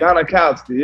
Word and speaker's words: Gostkowski: Gostkowski, yeah.